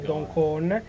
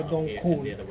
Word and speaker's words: Don Khong: Approfitto per fare una piccola correzione a quanto ho detto, ho pronunciato male il nome. La notte scorsa non ho dormito a Dong Khon, Don tra parentesi significa isola, ma ho dormito a Dong Khon.